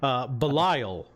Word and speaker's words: Belial: Okay, I was just making sure I was pronouncing it right. Belial, the voice says.